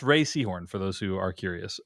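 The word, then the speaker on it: Rhea Seehorn: is it is pronounced Ray Seahhorn for those who are curious. Uh it just it's not pronounced like how it's read.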